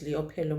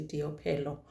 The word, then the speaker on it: Leopelo: I said her name is Leopelo Mapate, but they are saying the L is pronounced as a D, so it must be Diopelo or Diopilo.